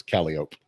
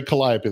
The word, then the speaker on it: Calliope: Well, like in New Orleans, you have a street that's spelled Calliope, but it's Calliope. Oh yeah. Yeah. You say Calliope, they look at you like you're stupid.